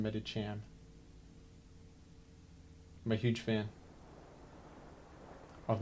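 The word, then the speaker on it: Medicham: favorite Niche Pokemon meditam I always say it as Medi cam but I think it's pronounced medichan I'm a huge fan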